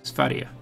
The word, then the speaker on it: Sverige: So, Sweden is in war with Sverige, which literally translates to Sweden. It's just Sweden in Swedish. And yes, it's pronounced Sverige, not Sverige.